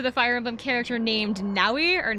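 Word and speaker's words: Nowi: Fire Emblem character named nauwi or Noy however you pronounce it I think it's Nai it's it's n o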